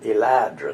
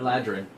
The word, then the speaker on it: Eladrin: Did I pronounce that right? Eladrin. Eladrin, like you.